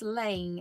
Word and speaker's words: Lang: Anne doesn't pronounce it as Lang, though. She pronounces it as Lane.